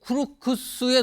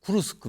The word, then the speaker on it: 쿠르스크: 북한군 수천명이 지난 23일 쿠르크스 도착했다 쿠르쿠스 아 제가 발음을 틀렸습니다 쿠르스크 window 쿠르스크 이게 러시아